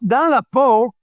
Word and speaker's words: Dans la peau: You're going to have to help me with the pronunciation again. The track, Dans la Peau?